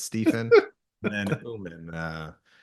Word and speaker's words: Oommen: can pronounce it right, because it's actually it's Stephen, like phonetically PH, but no one else pronounces it like that. So it's Stephen and then Oommen, Oommen.